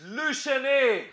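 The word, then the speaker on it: Le Chesnay: Here in Lachesney, hey, how do I pronounce this? It's Le Chenet.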